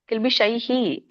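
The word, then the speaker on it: ಕಿಲ್ಬಿಷೈಃ: ಸರ್ವ ಕಿಲ್ಬಿಶೈಷಿ ಕಿಲ್ಬಿಷೈಹಿ ಕಿಲ್ಬಿಶೈಹಿ ಅದು ವಿಸರ್ಗ ಇದರೆ ಎರಡು ಡಾಟ್ ಕಾಣ್ತಾ ಇದೆಯ ನಿಮಗೆ ಅದಕ್ಕೆ ವಿಸರ್ಗ ಅಂತಾರೆ ಅಲ್ಲಿ ಐ ಬಂದ್ರೆ ಹೈ ಆಗುತ್ತೆ ಶೈಹಿ ಗುಂಜತೇತೆ ಗುಂಜತೇತೆ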